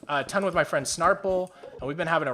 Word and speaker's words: Snarple: It's JUNOPII, and then Snarple is just how it's spelled, how it sounds, SNARPLE.